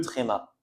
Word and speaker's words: tréma: Alors, j'ai écrit l'accent très mais en général on dit juste trma. D'accord ? On dit le tréma.